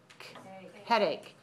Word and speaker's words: headache: All right, so sometimes the C-H has a k sound. In this word, k. Okay, not H, but ache. Headache.